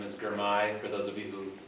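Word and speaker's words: Girmay: My name is Germai for those of you who have trouble pronouncing that. It's like my guy Germai if that helps. Uh Germay.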